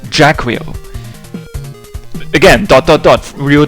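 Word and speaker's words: Jaquio: There's one guy who pronounced it Jacquio, and that's what I'll be going with. I'll pronounce it Jacquio.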